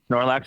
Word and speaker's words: Snorlax: Did I pronounce that right? First off, Snorlax. Snorlax is right.